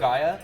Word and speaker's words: Lugia: Or I can just find one of the other Lugaias that's in the deck.